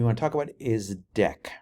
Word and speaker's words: deque: other one we want to talk about is deck right it's pronounced deck and it extends the Q interface let's see